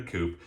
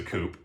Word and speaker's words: coupe: martini glass in this case we use a coop it's not necessarily pronounced coupe so you're not out of line calling it a coupe the history is that it was fashioned after